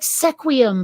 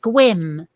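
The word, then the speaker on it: Sequim: where it's spelled s-e-q-u-i-m which looks like sequiam but it's pronounced squim and don't even get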